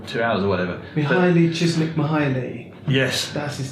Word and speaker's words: Mihaly Csikszentmihalyi: Mihaly Csikszentmihalyi. Yes. That's his name. Thanks for pronouncing that for me, Rob.